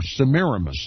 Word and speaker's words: Semiramis: Likewise, the ancient Babylonians worshipped their dead queen Semiramis, or Semiramis, as many pronounce it, and called her Mother of the Gods, the Queen of Heaven.